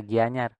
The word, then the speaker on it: Gianyar: Jadi, untuk IA nih, bunyi IA itu akan berubah menjadi nanie. Nah, seperti di kata Gianyar. IA-nya ini menjadi nanie Gianyar. Menjadi Gianyar ya. Tidak Gianyar. Ingat tulisannya berdasarkan pengucapannya.